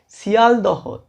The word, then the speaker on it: শিয়ালদহ: আমরা তৈরি করতে পারি, যেখানে আমরা লক্ষ্য করি যে শব্দ মধ্যস্থ হ ধ্বনিটি লোপ পায়। যেমন আমরা যদি বলি ফলাহার, ফলার উচ্চারণে চলে যাবে, অর্থাৎ এই হটি সেখানে লোপ পেয়ে যাবে। মালদহ থেকে মালদা, শিয়ালদহ থেকে শিয়ালদা, গাহিতাম থেকে গাইতাম, চাকদহ